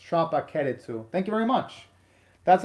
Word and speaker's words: Tropical-Rouge: Oh, and thank you very much, Michael, for the Japanese pronunciation of tropical, where at least in Japan they pronounce it as Tropica-Rouge.